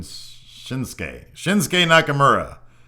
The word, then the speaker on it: Shinsuke Nakamura: I've been pronouncing shinuk Nakamura incorrectly apparently it's pronounced shinsa Shin what did he say Shin shinsuke shinsuke Nakamura thanks to Cory Graves for that one because